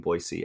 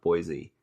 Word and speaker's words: Boise: And if you notice I'm saying Boise and not Boise, because I was told that's how you say it.